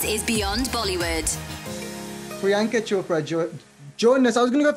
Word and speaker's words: Jonas: I was going to go for Jonas there, which is a problem with the pronunciation now, isn't it? Everyone forgets it. It's okay. No, it was my Jonas was coming out with a Indian twang.